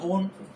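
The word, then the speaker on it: -one: तो इसका सफिक्स या अनुलग्न क्या होता है, ओन, ONE। अब इसमें स्पेलिंग पढ़ने की तो वन है, लेकिन इसको यहाँ पर ओन बोलेंगे क्योंकि एल्किल ग्रुप के साथ जुड़ेगा तो ओन कह के बोलेंगे इसको।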